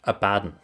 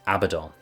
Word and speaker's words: Abaddon: in the audiobook because I am about to say a bad a badon I thought it was Abaddon Abaddon Abaddon that's it because I go to say about him but it's Abaddon yeah that's because I